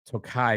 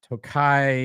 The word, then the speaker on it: Tokaji: It's a straight rye whiskey finished in Tokai barrels. I think that's how you say that. Tokai, it's spelled Tokaji, is a Hungarian sweet wine.